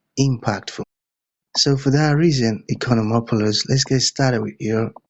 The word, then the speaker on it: Economopoulos: Okay, Economopolis, over to you. Thanks, Elijah. I appreciate once again to you and to all your listeners. Yes. Uh my name is Economopoulos. You say it correctly and I love the way you say it.